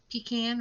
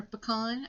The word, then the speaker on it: pecan: um pecan or pecan. I think that matters what side of the Rockies you live on.